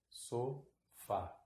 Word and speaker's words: sofá: e terminar em um o sofá atento viu a sílaba tônica é a última tá bom Aqui tá